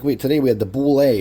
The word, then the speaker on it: bulette: today we had the bule or bullet as you might pronounce it or land shark I